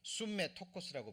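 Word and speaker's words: συμμέτοχος: 자, 그 다음에 또 참여라는 말이요, 이게 숨메 토코스라고 발음이 됩니다.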